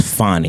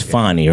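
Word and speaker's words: Fani: decision on his I I've been calling her Fanny but I understand it's fonnie is that correct it's fonnie it's fonnie right F pronounce the woman's name correctly Angelo fonnie Willis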